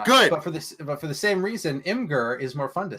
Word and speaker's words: Imgur: Because calling it Imager is bad and dumb, Ben.